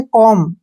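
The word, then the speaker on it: comb: रहेगा B silent में एम के बाद अगर बी आए तो वहां पर बी जो है साइलेंट रहेगा बी का उच्चारण हमने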